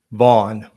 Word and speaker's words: Vaughan: not mistaken of the Oklahoma Rifle Association Mark vau am I pronouncing that correct is it vau or vanan vau okay that's correct John so what is second